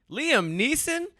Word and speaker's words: Liam Neeson: I always say his is it Nelson Neeson Liam Neeson I've been saying Liam Nielsen's taking one his name wrong before it was kalief Browder so I